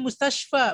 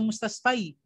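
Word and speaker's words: مستشفى: Dibacanya mustashfa, bukan mustasfai.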